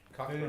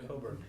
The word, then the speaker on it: Cockburn: Cockburn. It's probably the burn. Yeah. Cockburn, yeah. It's pronounced Coburn.